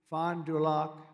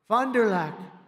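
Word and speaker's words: Fond du Lac: victims and he did earlier this year in Fond dulock Wisconsin Fondulac nice I love these names I wish they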